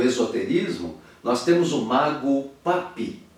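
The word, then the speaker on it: Papus: nós temos um Mago papi se escreve papos mas se pronuncia papi papi viveu entre 1865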